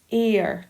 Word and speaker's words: heir: It looks like it says here, but it's heir to the throne. So it starts with the a sound, which is a vowel, so we'd say an.